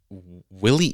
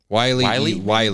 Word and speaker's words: Wile: So apparently, a fan dressed as Willie E. Coyote, Wiley. That's his name.